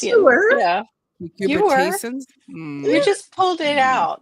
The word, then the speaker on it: cucurbitacin: other cucurbit vegetables that contain high levels of cucurbitaceans. I'm sorry, that was so cute. That's so cute. I can't pronounce it right.